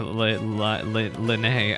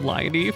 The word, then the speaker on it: Lyney: talking about her brother Lanae I'm sorry I'm getting used to the pronunciation because I've been calling him Lighty for like years now anyway he's a punk